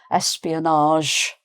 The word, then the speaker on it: espionage: um espionage. So instead of a hard J at the end, it's espionage. Uh so that's the French kind of pronunciation.